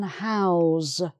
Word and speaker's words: house: also as a verb you can house people if you have enough rooms to house a hundred people something like that so house to house as a verb has the zed sound in it okay um then we